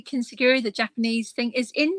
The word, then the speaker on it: Kintsugi: And then there's Kintsugi, I'm going to pronounce it correctly, Kintsugi, the Japanese thing, is in there, the gold in the cracks, and you know, when you're mending.